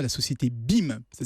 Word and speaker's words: Beam: doit à la société BIM. Ça s'écrit B-E-A-M. Ah oui, Alors, comme BIM.